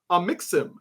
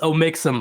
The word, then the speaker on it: Omixim: All right, next up we have Amixim joining the show. What's up, man? How you doing? Hello. I'm doing good. It's pronounced Omixim, by the way. It's a hard O.